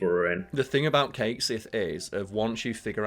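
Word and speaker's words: Cait Sith: I know that, like, Kate Sith in Gaelic would be pronounced Cat-She, but like, or something similar to that, but like, Square Enix have doubled and tripled down. In the game, they are called Kate Sith.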